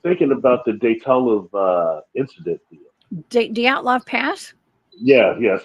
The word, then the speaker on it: Dyatlov Pass: Dyatlov Pass? Yeah, that's how you pronounce it.